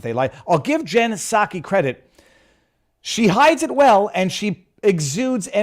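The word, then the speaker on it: Psaki: her name and then I was told it's a silent P so I'll just I'll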